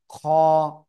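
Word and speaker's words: خاء: আর অক্ষরের নাম কি খ গলার শেষ ভাগ থেকে এই অক্ষরটা মোটা আওয়াজে আকার একি টেনে উচ্চারণ করতে হবে খ অনেকটা এই যে খ এর মত ঠিক আছে ওকে অক্ষরটা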